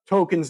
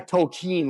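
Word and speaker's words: Tolkien: And first off, how do you say Tolken's name? Tolken. Tolken. Tolken. Not a toolken like the I mean if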